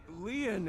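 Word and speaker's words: Lien: My name, Lian, is spelled L-I-E-N.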